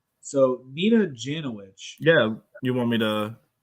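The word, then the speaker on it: Jankowicz: pronounce your last name nick other people were pronouncing it jenna witch janet witch so nina janowicz yeah you want me to you know tell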